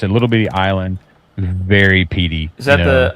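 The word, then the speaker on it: Islay: it's a little bitty Island very PD is that the ISL all right yeah it's Isla just pronounce Isla that stuff's all except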